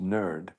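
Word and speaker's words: NIRD: Institute for Repurposing Drugs NID pronounced nerd.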